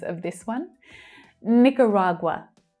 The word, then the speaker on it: Nicaragua: Nicaragua. Nicaragua. Which is quite different from the way that Nicaraguans actually pronounce their country name.